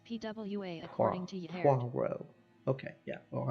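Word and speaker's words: Poirot: right there spin dash Diva said pronounced pwa according to okay yeah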